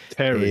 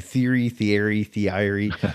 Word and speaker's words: Thierry: avec le nom Thierry, personne ne savait le prononcer. Terry. Et, parce qu'il n'y avait pas un Thierry. Oui, c'est Terry, T-E-R-R-Y, mais pas T-H-I-E-R-R-Y. Donc les gens disaient, mais comment tu prononces? Et donc c'est Theory.